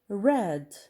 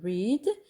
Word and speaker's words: read: المجموعة الأولى with d like say كترجع said stand stood pay paid read read. دونك لاحظتوا فعل read كيبقى نفس الكتابة ولكن النطق مختلف. we say read but in the past we say read.